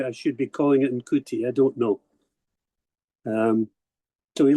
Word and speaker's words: Ncuti: I'm told that in Rwanda, NCUTI is pronounced sh. So that's why I'm calling it Nshuti. Or maybe I should be calling it Nkuti, I don't know.